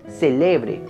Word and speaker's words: célebre: Ojalá hoy celebre mi cumpleaños. Y si está en la antepenúltima sílaba, celebre es algo famoso.